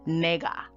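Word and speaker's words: nāga: i am saying correctly it's spelled n a g a the first a has a line over it where you know you say the a as in a it's not ah so it's so it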